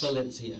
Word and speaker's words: Valencia: It's like the orange.